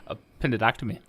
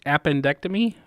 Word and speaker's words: appendectomy: me I'm sure that how did you pronounce it upended octa me upended octa me I think it's it's appendectomy ok appendectomy appendectomy or is it up and dr.